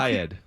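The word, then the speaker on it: Kyed: In the meantime, Doug Kaid, I think he's I think Kaid Oh, okay. I've been pronouncing it wrong.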